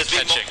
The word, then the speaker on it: kYxY: Yeah, if people are wondering why we're pronouncing his name slightly weird, that's actually how he told us to pronounce it.